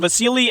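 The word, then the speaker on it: Vasyl: him called both, and apparently Vasil is the classic Ukrainian way to pronounce and spell it, but it's become Vasily to become more English-friendly over the years, so I may use both to keep everybody happy.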